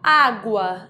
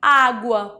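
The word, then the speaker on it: agua: construção A Construção em Água porque porque água em espanhol a sílaba forte a sílaba tônica é a primeira é um A então para não ter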